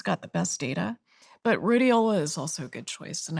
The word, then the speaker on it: Rhodiola: I found a supplement called I can't pronounce the name properly, but rhodiola?